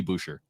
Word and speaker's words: Boucher: is it is it boucher boucher how does he say his name bobby boucher bobby boucher chris boucher he goes he goes to bouche okay so chris boucher